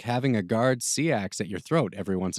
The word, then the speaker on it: seax: It's pronounced sachs, the guard said, pronouncing the word with a short a sound and shortening it to one syllable.